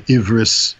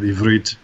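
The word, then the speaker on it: עברית: the land of Israel, not the Ashkenazi accent where the T is pronounced as an S, like they will say Ivris instead of Ivrit, right? And other things like brachos instead of brachot.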